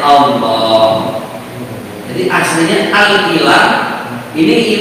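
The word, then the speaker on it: الله: Allah tulisannya gitu, tapi cara bacanya Allah.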